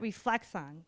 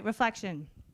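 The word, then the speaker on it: Reflexion: chief marketing officer at reflect on did I say that right reflection reflection I'm sorry reflection you even had the pronunciation up on your website and I still phonetically said it wrong he is making a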